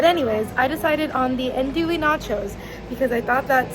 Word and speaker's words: andouille: Yes, I said it right, andouille.